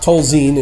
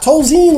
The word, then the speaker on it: Tolzien: Scott Tolzien, ladies and gentlemen, although I always thought it was Tolzien, but I have been known to put my accent on the wrong syllable from time to time.